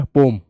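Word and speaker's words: poem: अच्छा, पोम कहता है, पो का ओम है ना, पोम। पोयम पोयम मैं बोल देता हूं, लेकिन असल में कहते हैं पोम, है ना, पोम, राइट।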